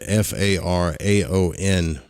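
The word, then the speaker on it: Faraon: And it's spelled F-A-R-A-O-N, but it's pronounced Fa-Ra-On.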